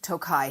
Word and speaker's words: Tokaji: do you have any tokay and they'll be like are you looking forward to a chi because we're American and we mispronounce everything but it is Tokai here in America and if you like